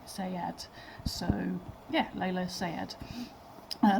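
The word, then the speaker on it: Saad: pronounced that right but it looks like it's SP like say Sayad so yeah Lea Sayad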